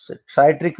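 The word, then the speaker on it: citric: साइट्रिक भी बोलते कुछ लोग, बट सिट्रिक बेटर प्रोनाउंसिएशन है.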